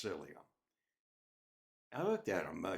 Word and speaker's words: psyllium: with psyllium in it it's spelled with a p but it's pronounced cilia I looked at him